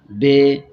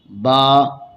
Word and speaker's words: ب: 29 ہیں۔ حروف مفردات کو تجوید و قرات کے مطابق عربی لہجہ میں ادا کریں، اردو تلفظ سے پرہیز کریں، یعنی بے، تے، سے، ح، خ، طوے، زوے وغیرہ ہرگز نہ پڑھیں، بلکہ با، تا، سا، ح، خ، ط، ظ پڑھیں۔ ان 29 حروف میں